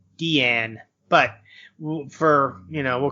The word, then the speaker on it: Diane: did the possibility of her name is actually pronounced Deanne but for you know